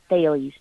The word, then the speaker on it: Thales: because it does look like sales but it's pronounced Bailey's th al es Bailey's was a Greek philosopher so that's where we